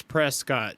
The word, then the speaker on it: Prescott: look at the spelling it's Prescott but all the locals say Prescot like Triscuit but presc yeah I